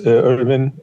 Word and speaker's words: Elvin: fold um so my name is Irwin or Elvin in in Turkish pronunciation I was born in